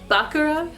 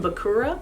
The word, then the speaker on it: Bakura: this evil chaos gremlin bakura from yugioh note i'm going to pronounce his name bakaram it's different from the way that it's pronounced in the english dub they usually call him bakura but in the japanese